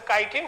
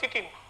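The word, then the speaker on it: chitin: আপনারা ছোটবেলায় পড়েছেন কাইটিন, সেই কাইটিন হচ্ছে বানানটা দেখেন কাইটিন বানানটা বড় হইলে নামটা শুনলে আপনার কাছে একটু অবাক লাগবে, উচ্চারণটা হবে চিটিন।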